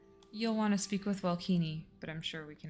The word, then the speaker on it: Welkini: You'll want to speak with Welkini, but I'm sure we can accommodate.